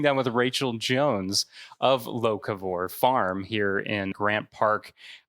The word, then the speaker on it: Locavore: So how is it properly pronounced so we can make it known? Locavore.